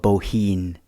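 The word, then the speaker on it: Bohun: from an old welsh poem that pronounces um the bowen's name slightly different to uh more welshified to rhyme with scene but anyway our story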